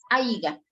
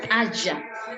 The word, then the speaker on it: haya: No se dice aiga, sino haya.